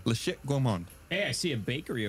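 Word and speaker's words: La Chatte Gourmand: How do you say it? La Chat. La Chat. It's C-H-A-T-T-E. La Chat Gourmand. La Chat Gourmand.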